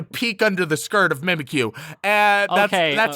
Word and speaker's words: Mimikyu: were doing they introduced mimikyu uh and i'm sorry sorry don't you mean mimikyu oh yeah mimikyu uh